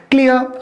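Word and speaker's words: clear: किसी भी शब्द के अंत में बेटा अगर आर आता है तो उसका र प्रोनाउंसिएशन हम नहीं करेंगे बेटा, आपको नॉर्मल थोड़ा अ बोलना होता है।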